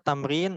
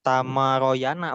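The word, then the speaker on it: تمرين: Apa tamrin? Latihan, ya. Ya. Latihan. Jadi ini bacanya jangan tamaroyana, bukan. Atau timiriyini, bukan. Atau tumuruyunu, bukan. Tamrin, ya. Hati-hati.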